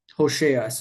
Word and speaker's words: Hosea: Hosea. Hosa. I learned the pronunciation correctly.